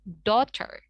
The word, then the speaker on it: daughter: Tapi kita silent GH-nya dan AU-nya itu seakan-akan kita jadikan O. Jadinya daughter. Begitu.